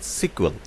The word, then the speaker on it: SQL: এটাকে আবার অনেকে আদর করে বলতো যে স্ট্রাকচার ইংলিশ কোয়েরি ল্যাঙ্গুয়েজ, শর্টে ডাকতো সিকুয়েল, অর্থাৎ এসকিউএলটাকে অনেকে উচ্চারণ করতে শুনবেন সিকুয়েল।